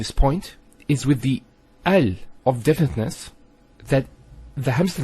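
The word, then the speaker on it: ال: that the hamster fossil is always pronounced with a feta not a kesra and not a dhamma so it's always ah Al bait Al Tamar and so on it's never UL it's never ill it's always l another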